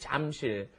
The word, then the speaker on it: 잠실: Notice it's not spelled Jamsil, it's Jamsil is the spelling, but the pronunciation, of course, is right in between that J and that CH, isn't it? Jamsil, right?